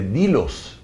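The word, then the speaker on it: Delos: que él hubiera trabajado en la isla de Dilos, que se escribe del.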